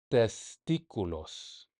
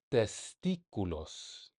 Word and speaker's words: testículos: Bob me quiere porque piensa que a mí también me han extirpado los testículos. That little accent on the I, you gotta hit it like you're going the peak of a roller coaster.